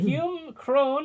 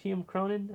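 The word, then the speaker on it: Hume Cronyn: But yeah, and Hume Crone as Rupert Horn, the great uncle of Montgomery, who pre-records the challenge to Brewster. That's Cronin. Did I say the name wrong? Hume Cronin?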